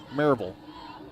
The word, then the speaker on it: Maryville: a hat on and it said Mur VL marville cuz that's is how they say it just like shevel couldn't get it all